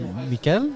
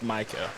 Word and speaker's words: Michael: Is it Mikel? It's Michael.